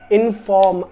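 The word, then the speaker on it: inform: अब इनफॉर्म, are silent रहेगा, इनफॉर्म, इनफॉर्म.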